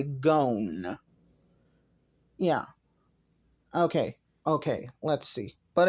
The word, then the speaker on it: Gown: I know most people say his name Gown, but I say Gon.